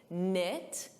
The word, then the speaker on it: knit: Just like night, a night, silent K, knit, silent K.